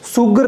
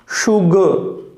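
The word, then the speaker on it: sugar: शुगर, सुगर नहीं है, ये ध्यान रखना, शुगर। ठीक है, तो शुगर के लिए क्या हो जाएगा, श उ ग और अ, शुगर। शुगर नहीं है, शुगर।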